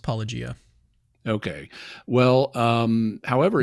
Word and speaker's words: Paulogia: later followers um when poia is poia however you say say his name is I know I ran into that as well but I've I think it's just pronounced Pia okay well um however